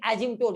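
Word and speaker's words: asymptote: Spelling ASYMPOTS होता है, PTOS होता है, लेकिन एजिम्टोड इसका जो प्रोनाउंसिएशन होता है एजिम्टोड, ठीक है ना।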